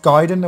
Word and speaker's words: Gaiden: Gaiden means side story in Japanese, except it's pronounced Gaiden, and we're going to spell it G-A-Y-D-E-N.